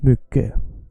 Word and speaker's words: mycket: mycket, you say mycket, you don't say det, you say det. Doesn't matter what other people told you. It's okay, we understand you. Keep saying it wrong. We love you because you exist. Sure, but the proper way is like this. Mycket, det. Nice. And again, mycket. What did I do? I also stretched mycket, the first syllable.